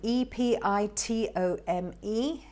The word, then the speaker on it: epitome: Now let's look at this one, EPITOME. It's also quite a mouthful, isn't it? Not easy to pronounce. You may be pronouncing it incorrectly. The right pronunciation is epitome.